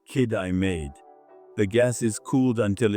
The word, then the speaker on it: Kitimat: At the other end, in Kitimat, it's pronounced kid I made.